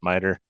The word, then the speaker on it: MITRE: Um, Mapping findings to MITRE ATT&CK, MITRE, I pronounce it MITRE. Hayden might That is the correct way to pronounce it.